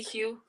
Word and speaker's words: Hugh: But now, come on, Hugh. If I'm pronouncing your name wrong, pronounce your name right, because I jack a name It's up. you. You know me. What happened? You forgot? No, I know who you is, but I'm bad with names. Yeah, you just call me Hugh.